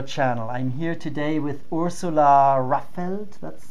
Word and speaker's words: Ursula Raffelt: I'm here today with Ursula Raffelt.